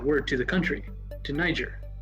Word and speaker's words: Niger: Niger is a real country and that's how you pronounce it.